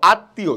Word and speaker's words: আত্মীয়: আমরা যদি দেখি আত্মীয়, এই যে আত্মীয়, সরেয়া তয় তো আত্মীয়, দুইবার হচ্ছে না দ্বিত্ব।